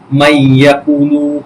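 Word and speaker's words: مَن يَقُولُ: দেখেন এই যে নুন সাকিনের পর ইয়া আসছে, নুন সাকিনের পর ইয়া আসছে, সুতরাং আমরা এই যে ইয়াকে তাসদিদ দিয়ে কিন্তু পড়ছে। সুতরাং মাইয়াকুলু, মাইয়াকুলু, মাইয়াকুলু, মাইয়াকুলু, এই যে তাসদিদ দিয়ে গুন্নার সহিত আমরা পড়ব।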